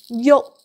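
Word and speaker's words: yuk: Yok. Yok. So, my yok. Don't move. My yok. Don't move. My yok. Don't say my yok. No K sound at the end.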